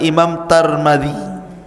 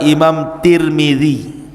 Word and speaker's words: Tirmidzi: Dan ada yang kemudian membacanya tarmiz, ada turmud, ada tirmid. Jadi ada sebagian ulama mengatakan Imam Tarmadzi, ada yang mengatakan Imam Turmudzi, ada yang mengatakan Imam Tirmidzi. Walaupun yang masyhur adalah Imam Tirmidzi ya.